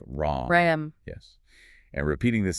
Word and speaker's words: Ram: It's pronounced like Ram.